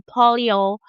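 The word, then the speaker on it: polyol: Then another pathway is the polio pathway. I'm going to spell that P O L Y O L.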